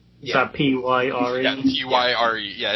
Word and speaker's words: Pyre: I hope I actually pronounced that right. Is that P-Y-R-E? Yeah, Pyre. Yeah, it's that kind of stuff. At So least you didn't apparently, say. wait, what? At least you didn't say like pure or something like that.